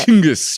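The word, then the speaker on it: Chinggis: Chingis.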